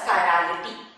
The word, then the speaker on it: chirality: The word is pronounced as chirality.